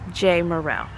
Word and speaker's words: Jamerrill: J-A-M at the front and they think jam. And then that really confuses them. But if there was a Y in there, if it was J-A-Y, or if there was a hyphen, but you pronounce it Jamerrill.